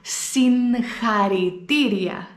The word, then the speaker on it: συγχαρητήρια: Οι Έλληνες όμως ποτέ δεν προφέρουν το γάμα χ όπως είναι. Δεν μπορώ να πω συγχαρητήρια, δεν μπορώ να το πω. Οπότε θα βάλω ένα νι πριν από το γάμα και θα πω συγχαρητήρια, συγχαρητήρια.